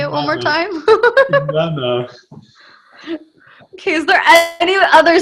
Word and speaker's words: Inanna: Sorry to correct you. It's Inanna, the goddess. Ilana?